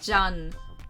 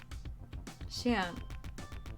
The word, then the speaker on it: Jian: I want to say it like Jan. Like, you know, the French name. That's what my brain defaults it to, but that is wrong. Xian leads.